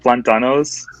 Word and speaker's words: plátano: Is it like plantanos? I'm not sure if I'm saying that right. Plátano. But you guys know what I mean. Like Plátanos. Plátanos. platanos.